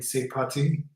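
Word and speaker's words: c'est parti: mate well done bill you have to pronounce the arm more in say party right which are they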